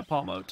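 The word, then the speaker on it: Pawmot: all right Paul yeah Paul moat is how you pronounce it unlike what it just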